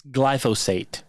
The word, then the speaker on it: glyphosate: It's glyphosate is how you pronounce it.